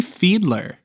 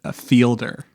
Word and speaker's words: Fiedler: And joining me once again, I have Fiedler, who is probably a little bit shocked that I actually pronounced her name the first time. How many takes did we do before where I said Fielder?